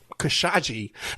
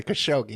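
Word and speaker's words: Khashoggi: the whole and even how they got the entire press to pronounce it kosagi they weren't even pronouncing it the right way kosi everybody knows how to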